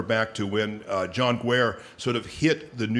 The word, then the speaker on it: Guare: a question and answer and somebody said Mr guare I'd like to ask you I said it's pronounced gu she said I pronounce it guare so as as someone named Joya I guess